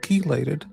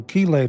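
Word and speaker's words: chelate: The ch in chaos is pronounced as a k. So keelate is probably pron I think it's pronounced keelate.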